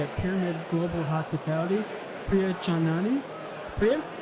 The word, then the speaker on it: Chandnani: and Distribution Strategy at Pyramid Global Hospitality, Priya Chandnani. Priya, how are you? Well done pronouncing my last name, Trevor.